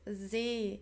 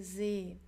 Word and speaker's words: See: So make sure the pronunciation is not that like the English sea, it's See in German, okay, See.